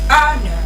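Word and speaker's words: honour: The The ha sound there, it is silent. So you don't pronounce it with the word.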